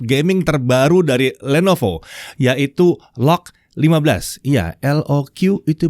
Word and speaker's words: LOQ: Oke Lenovo log 15 log ya bukan Loki ya ini lock bacanya mari kita mulai dan